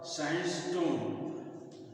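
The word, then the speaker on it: sandstone: सवि sandwich इसका उच्चारण है सवि ड का उच्चारण होता सवि बोला जाता है तो स और ये सास सास स्टर सान स्टोन साइन स्टोन होता है इस तरह से साइन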